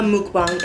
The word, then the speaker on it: 먹방: Mukbang, like, it's mok, like mogo, mogoyo.